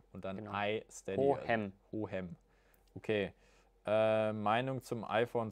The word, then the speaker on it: Hohem: Hohem schreibt man H-O-H-E-M. Und dann genau. iSteady. Hohem.